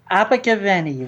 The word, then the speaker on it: Abergavenny: He was born in the United Kingdom in the South Wales market town of Abber Gavin. How do you say that? Abigavi will Oh, that's easy for you to say.